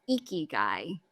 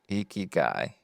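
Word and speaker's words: ikigai: would recommend people look up the concept of eeky guy a Japanese idea which stands for reason for being okayy how do you spell that yeah I was just going to say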